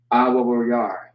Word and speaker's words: Awawayar: Awawayar is how you would pronounce that or say it.